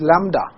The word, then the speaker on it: lambda: This is B is silent over here. Okay? So you will call it as lambda. B is very slight sound comes, lambda. Okay, so most of the times we say lambda only.